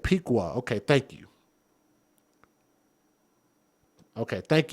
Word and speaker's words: Piqua: Now, according, he said Piqua. Okay, thank you. Okay, thank you. Thank you for helping me pronounce that properly.